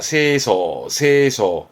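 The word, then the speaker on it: 清掃: 여러분들이 머릿속에 있는 청소는 소지죠. 그거는 이한자입니다. 요거는 소제라 그래서 쓸어서 제거한다 해서 발음이 소지 합니다. 요런 게 이제 한자를 고를 때 잘 틀리기도 하죠. 읽거나 고를 때 파트 1, 2에서 그러죠. 그러니까 한자가 청소라면 세소, 소제면 소지로 읽으셔야지만 한자를 선택함에 있어서는 문제가 없겠습니다.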